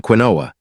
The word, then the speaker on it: quinoa: Quinoa, the ancient eye protector. Quinoa, pronounced quinoa, has been nourishing humans for thousands of years.